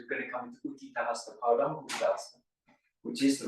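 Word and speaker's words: Utthita Hasta Padangusthasana: the seat, because we're going to come into Uttita Hasta Padangusthasana, which is the right pronunciation.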